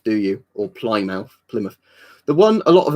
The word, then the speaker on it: Plymouth: gonna force the pronunciation oh yeah you don't pronounce it Plymouth do you apply now Plymouth the one a lot of Americans don't know